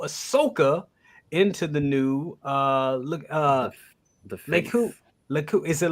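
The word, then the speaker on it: lekku: Says, can you fit the Mondo Ahsoka into the new the Leku? Is it Leku? Am I saying it right? I always say it wrong. Leku.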